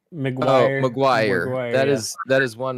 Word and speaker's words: McGuire: And so that these things, and even things, again, to reference what, I'm looking at, how do you pronounce Mark Yeah. McWicky? McGuire.